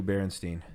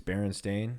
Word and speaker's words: Berenstain: really like strong berenstein berenstain bears oh yeah what is it what is the true berenstein berenstain it's berenstain s-t-a-i-n uh it has to